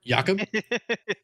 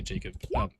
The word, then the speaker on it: Jakob: It's spelled like Jacob, but I just refuse to say Jacob.